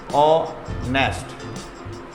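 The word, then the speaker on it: honest: क्या बोलते हैं, ऑनेस्ट। यहाँ पे एच साइलेंट है, ऑनेस्ट बोलेंगे, फुल स्टॉप लगा देंगे।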